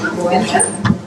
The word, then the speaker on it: Boender: Boender. How do you pronounce your name? Boender. And you don't pronounce the D, huh? Boender. Boender. I don't. You're supposed to. You don't, so Boender. Boender.